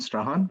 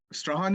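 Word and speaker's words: Strachan: Like Strahan is spelled like S-T-R-A-C-H-A-N. Ian Strahan, yeah.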